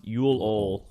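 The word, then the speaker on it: Juleøl: It's pronounced Yule Ol.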